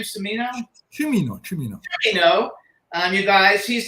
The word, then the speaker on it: Cimino: Is that how you pronounce his name? Cimino?